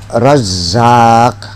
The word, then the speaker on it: Razzaq: Ya Razzaq, jangan ya Razzaq. Ya Razzaq, fa'alun. Jangan Razzaq.